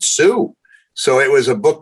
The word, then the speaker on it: Sioux: even pronounce it and he pointed to a word s-i-o-u-x i said sue so it was a